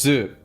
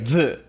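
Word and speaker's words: づ: few months back that the tsu with a ten ten is pronounced the same as zu like zu. I didn't know that. I kept trying to do like a dzu like a d z u.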